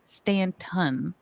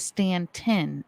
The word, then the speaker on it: Staunton: said Joe told us it is not Stanton it is stantin and that the locals would be very upset if we pronounced it wrong so if you're local